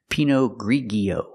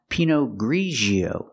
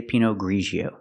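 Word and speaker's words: Pinot Grigio: wine is not pronounced P ggio it's pronounced pinio we use the sound like in measure and pleasure like Division and usual Grio Pino ggio I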